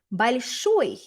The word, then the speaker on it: большой: And we end up with новой, советской, большой. Again, notice the stress is on the final syllable because the stress was on the final syllable over here in большая.